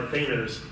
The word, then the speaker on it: Thanos: We're talking Adam Warlock being killed by Thanos in Avengers Annual 7.